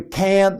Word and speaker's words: can't: 이렇게 했고요 여기는 can이 아니라 그냥 큰에 가깝게 발음 했어요 you can see you can see you can see you can see you can't miss it You can see you can see